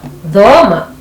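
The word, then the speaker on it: thoma: And then TH, we have dhoma, which means learn. Dhoma.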